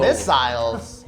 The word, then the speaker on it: missile: Missiles? Whoa. Is that the East Coast pronunciation of missile? Missile. Missile sounds like thistle.